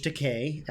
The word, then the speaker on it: Takei: George Takei. Rhymes with gay.